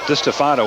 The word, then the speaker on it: DeStefano: in this town, and that was DeStefano to me, but that potato, okay? No, I think you were right. It was DeStefano was the pronunciation we got on it.